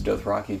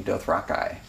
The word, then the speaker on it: Dothraki: something to reflect that though I apparently got it wrong he pronounces doth Rocky doth Rocky he records every line